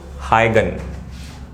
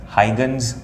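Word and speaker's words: Huygens: Next जो person है वो आ रहा है हाइगन। स्पेलिंग देख के लिख लेना, HUYGEN, हाइगन्स वेव थ्योरी।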